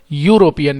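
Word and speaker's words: European: मैन उसी तरीके से यूरोपियन यूरोपियन ई से जरूर शुरू हो रहा है वोल से लेकिन प्रोनंसिएशन पहला जो साउंड है वो है यूरोपियन या या साउंड और उसी तरह से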